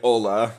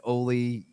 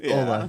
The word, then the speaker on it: Olle: The European Ola, yeah.